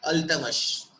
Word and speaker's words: Iltutmish: And it is written, his spelling is like ILTUTMISH, but what we have to pronunciate it like Ultamas.